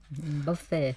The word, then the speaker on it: buffet: Buffet. So you stress on the first word or second word, Ajahn, buffet. Buffet. Buffet. Second syllable. Second syllable.